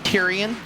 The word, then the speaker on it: Therian: an h it's not but the h is silent i'm like but it's